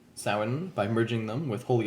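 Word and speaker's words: Samhain: a festival uh called Sin. It it looks like it's spelled or it looks like it said Sam Hayne, but it's so that's how bad English is.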